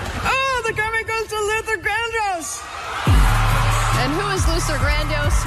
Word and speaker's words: Luther Vandross: Somewhere, some guy named Luther Vandross is going, oh, here we go. I mean, she even mispronounced Luther Vandross. Right. It was like Luther Grandis.